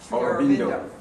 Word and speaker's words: Aurobindo: Aurobindo.